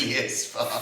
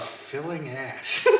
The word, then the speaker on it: Phileas Fogg: This is pronounced Phileas Fogg. filling ass. Can't believe you're trying to get away with this.